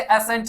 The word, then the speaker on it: ascent: एक्सेंट 2 भाग में ये बटा हुआ है, इसे कतई एसेंट नहीं बोलेंगे क्योंकि एसेंट ये होता है ASCENT, इसे एसेंट प्रोनाउंस करते हैं, और एसेंट का मतलब